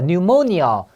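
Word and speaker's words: pneumonia: 자 뉴모니어 뉴모니어 발음이 뉴모니어예요.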